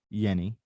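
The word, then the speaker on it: Jenny: It is pronounced Yenny. Okay, So this is no J, but Yenny.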